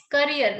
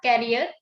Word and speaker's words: career: few incorrect pronunciation like it's career not carrier it's healthy not healthy